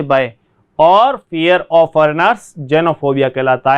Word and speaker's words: xenophobia: तो यहाँ पे देखिए, इसको जेनोफोबिया, जेनोफोबिया, जेनोफोबिया, फोबिया, जेनोफोबिया कहा जाएगा इसको। ऐसे एक्सेनो ऐसे नहीं पढ़ना है।